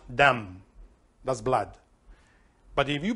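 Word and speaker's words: דם: Well, this blood in Hebrew is dam, dalet mem, pronounced dam.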